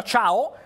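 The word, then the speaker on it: Thiaw: nostra Andy è brasiliano si scrive t i a si pronuncia ciao come se fosse cinese ed è nato a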